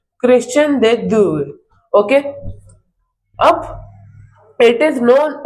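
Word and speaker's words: Christian de Duve: तो इसे कई जगह ऐसे भी प्रोनाउंस करते हैं। क्रिश्चियन डे ड्यूए।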